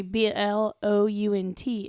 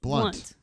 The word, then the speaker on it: Blount: that's like in Montgomery b l o u n t is blunt and it's like no that's Blount whatever that's all the high